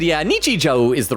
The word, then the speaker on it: Nichijou: Oak said, yeah, Nichijou is the right pronunciation.